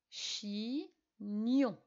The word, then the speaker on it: chignon: la même chose pour chignon et on corrige chi nyon on entend mieux dans la dernière syllabe et au fini avec